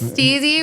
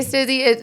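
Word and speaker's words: STIIIZY: I'll be I feel every time it's steey. But people say stey. So it started as a skater term like you know like style and ease.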